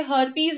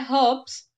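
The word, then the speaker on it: herpes: तो हर्प्स को काफी लोग मिस प्रोनाउंस करके हर्पीज हर्पीज बोलते हैं, ठीक है, बोल सकते हैं, लेकिन वो एसेंट डिफरेंट है, हमें इसको बोलना है हर्ब्स, ठीक है।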